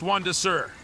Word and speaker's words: Crimson Desert: It's actually pronounced Juan de Sur. The T is silent.